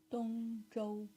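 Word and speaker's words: 董卓: Dongzhou.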